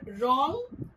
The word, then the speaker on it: wrong: Silent W W is silent whenever we combine it with R at the beginning of a word.